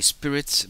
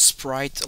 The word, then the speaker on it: Sprite: I always say Spirit, but it's Sprite like the drink for the healer.